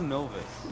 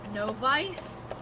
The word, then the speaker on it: novice: to i'm going to google no vice you're getting worse how do you say it novice hold on wait everyone